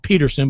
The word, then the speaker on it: Patterson: patterson there you go i think he actually pronounced it peterson but it's with two t's it looks like patterson he has two s's as well carl peterson my pick